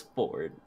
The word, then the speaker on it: Fjord: half-orc warlock named board spelled fjord but pronounced forward that's beautiful I love